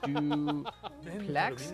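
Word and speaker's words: Dupleix: welcome back I guess technically it's French so we won't pronounce the X at the end but um all right so we have the French Heavy Cruiser from 1930 do Plex it's a su class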